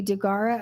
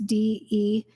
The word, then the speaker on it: Deguara: This is by Wendy Degara. I think that's how you pronounce her last name. Daisy, for the record, it's Deguara.